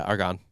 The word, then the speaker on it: Argonne: So I'm probably going to pronounce this wrong. You smell like schnitzel. In the Argonne? Is it Argonne? Oh, yeah, Argonne.